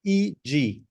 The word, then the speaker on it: e.g.: This is pronounced E-G. E-G. Okay. Okay, very simple. Just the letter E and the letter G.